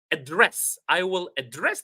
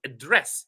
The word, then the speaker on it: address: When it is a verb, it's the second syllable, res, that is high, loud. Address, address. But when I'm talking about it as a noun, I should emphasize, or I should stress the first syllable, address, address.